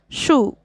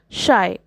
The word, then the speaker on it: Scheu: Scheu acknowledges that his name looks like it should be pronounced Shu, which is a common mistake, but emphasizes that it is actually pronounced Shy.